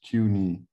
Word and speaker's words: Cooney: is pronounced q like the letter q and the place where your leg bends cuny i was an activist